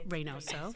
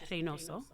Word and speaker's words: Reynoso: It's Reynoso. So Reynoso. Okay. I just wanted to make sure. If you say it in the way that it should be pronounced, right? In Spanish, it's Reynoso.